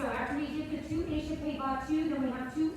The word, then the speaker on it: échappé: How do you spell échappé?